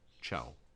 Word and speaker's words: ciao: see I a Oh ciao you'll notice how to CH sound there missy is directly followed by an eye ciao if you have